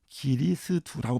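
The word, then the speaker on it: 基利斯督: 예, 그게 중국어로는 기리스두라고 발음됩니다.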